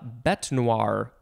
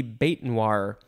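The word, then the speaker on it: bête noire: next we have uh bet noir or could be bait noir it is two words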